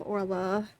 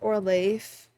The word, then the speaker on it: Oirlaith: in the previous videos I took inspiration from the the Irish Gaelic pronunciation and spelling of her name. So, as of personally for me, um I pref I would call her Ora just because of that.